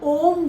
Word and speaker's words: ओम: के करना है, और ओम जो है वो 3 अक्षरों से मिलके बना है, अ उ म। जब आप अ बोलेंगे, गहरी सांस लेनी है, और फिर सांस छोड़ते समय अ उ म का उच्चारण करना है।